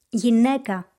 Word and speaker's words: γυναίκα: Alpha iota sounds the same as the letter epsilon, e. Γυναίκα.